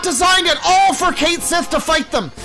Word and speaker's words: Cait Sith: And so there's one part where you control Cait Sith, which is how they pronounce it in the game.